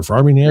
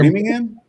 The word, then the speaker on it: Framingham: Framingham or Farmingham. Framingham.